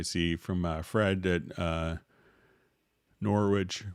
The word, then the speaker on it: Norwich: from uh fred that norwich rhymes with porridge so thanks for letting